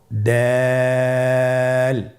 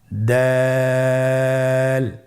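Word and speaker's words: دال: দাল হরফটি বারিক হরফ। এই হরফটি উচ্চারণ করার সময় আমরা অবশ্যই 3 আলিফ টেনে পড়ব। দাল। আমার সাথে আবার বলুন, দাল।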